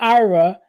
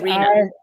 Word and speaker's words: Iryna: I want to say Ira. It's not Ira. It's Iryna.